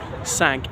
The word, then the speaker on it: Cinque: think who it is sank as in the French word for five I think they're actually more than five of them despite the name but they um don't spell it like sank they spell it like Cinque the Italian um these posts box